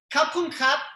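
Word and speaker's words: ขอบคุณครับ: Kap kun kap means thank you. They spell it with an R, but you'll say So I'm going to say kap kun kap.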